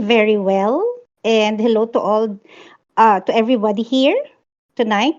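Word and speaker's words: Oulu: my heat map in ULU um SJ and Rhys hi hello resident Finn you want to you want to correct that pronunciation there oh yeah it's all not ulu thank you all right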